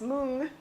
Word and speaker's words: moong: call them you know our American pronunciation is M beans but the Indian people that I've talked to says moong moong doll and they don't some